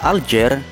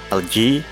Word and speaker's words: Alger: ini menyisakan kata J kata aljer atau lebih tepatnya alji dalam bahasa Prancis merupakan pelafalan orang Prancis untuk kata alzair yang